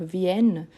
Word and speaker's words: viennent: Et je ne prononce pas le ENT à la fin. Donc, viennent, je finis avec le son de la consonne N.